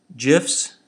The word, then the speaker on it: GIF: use on the web gifs that's how the creator pronounces it don't argue ping images